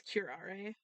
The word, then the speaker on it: curare: So it is curare.